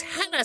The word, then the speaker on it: Hela: It's Hela City.